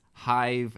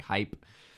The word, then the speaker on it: Hive: to the podcast, so it's Hive, Hive, like Beehive podcast. Not here. I mispronounced it as like Hype, which is probably a very different show.